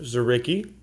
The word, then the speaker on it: Dzuricky: his website uh it's Bob dzeri it's actually pronounced zarii he signs R A zarii so DZ u